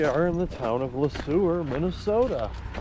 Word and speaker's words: Le Sueur: Here we are in the town of Le Sueur, Minnesota. Or as Google says, Le Sueur. but it looks like it's spelled Le Sauveur.